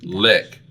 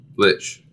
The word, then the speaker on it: Lich: It's nicknamed, and I'm probably going to mispronounce this, but I'm going to say it with authority, Lick. For the undead creature known for controlling other undead creatures with magic. Oh, the Lich King. Lich. Yes, it's the Lich King from World of Warcraft.